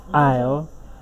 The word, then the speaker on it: aisle: So from what we have here, we can see that option D, aisle, is the same, contains the same sounds you have here in file. Therefore, aisle rhymes with file, and the correct answer is D, aisle.